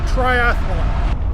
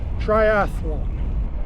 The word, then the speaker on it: triathlon: watch any previous video, I've always pronounced it triathalon. 4 syllables. Threw an extra A in there just for fun. All my life I thought it was triathalon. Turns out no, it's only 3 syllables.